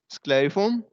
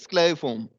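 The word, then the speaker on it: scalariform: Correct pronunciation is स्क्लेरिफॉर्म, लेकिन वैसे मैं स्पेलिंग को याद रखने के लिए ऐसे बोल रहा हूँ स्केलरिफॉर्म।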